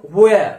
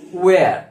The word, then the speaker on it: where: এই WHER এটার উচ্চারণ হোয়ার আমরা হোয়ার বলি হ কিন্তু এর অ্যাকচুয়াল উচ্চারণ হলো ওয়্যার হোয়ার নয় ওয়্যার ওকে এনিওয়ে তারপর আছে